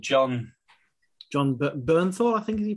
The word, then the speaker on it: Bernthal: John Bernthal, who was the Punisher.